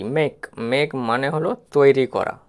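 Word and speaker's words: make: এক্ষেত্রে কে এর জন্য ক হয়েছে আর ইংরেজি ওয়ার্ড এসে যদি ই থাকে সেটি সাইলেন্ট থাকে তাহলে ম এ সমান মে আর কেতে ক এম এ কেই মেক মেক মানে হল তৈরি করা তারপরের উদাহরণটা দেখো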